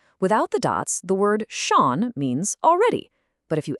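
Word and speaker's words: schon: Without the dots, the word shaun means already.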